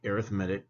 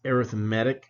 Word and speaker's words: arithmetic: arithmetic series now again that word is pronounced arithmetic when we're looking at series or sequences right when we say arithmetic that's when we're just doing our basic you know adding subtracting type stuff so arithmetic now if